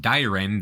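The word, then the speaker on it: Dairen: you sometimes hear called Dyen during this period. That's the Japanese pronunciation.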